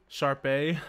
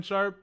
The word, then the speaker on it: Sharpe: there so we got Sharpay no the e is silent like Shannon Sharpe like that that's how